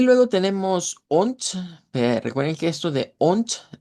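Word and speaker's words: und: Vamos a usarla mucho y pero la pronunciamos con letra T. Vea, se cambia la D por T y decimos on.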